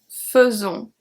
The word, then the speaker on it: faisons: We have je fais, tu fais, il fait, elle fait, on fait, nous faisons, faisons. So here this is an irregular pronunciation. The AI before the S is going to be pronounced E.